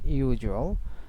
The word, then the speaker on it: usual: As usual, is as and usual. So combination of the j sound will be applied here between them. So it will be pronounced as usual, not as usual.